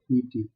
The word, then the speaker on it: leapt: Dear students, तो इस जगह ए होता है, Leapt। तो मैंने कहा ना, यहाँ पर भी स्पेलिंग थोड़ा सा चेंज किया गया है पोएटेस के द्वारा।